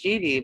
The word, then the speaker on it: Jeanne: spelt the way it is is j-e-a-n-n-e but pronounced genie but spelled like uh joan of arc or